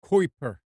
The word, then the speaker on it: Kuiper: here's another one Amazon I guess it's pronounced Kuiper k-u-i-p-e-r the vision can start